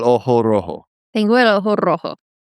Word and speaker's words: rojo: tengo el ojo rojo Oh, you roll the R. when it's at the beginning.